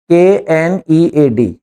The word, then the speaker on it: knead: KNEAD, KNEAD नीड कहलाता है, के साइलेंट रहता है, इसको बोलेंगे नीड, पर शुरू में के होता है ये।